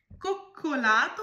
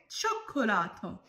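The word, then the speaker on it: cioccolato: Next, কোক্কোলাতো উচ্চারণ করলেন, এটা হবে চোক্কোলাতো।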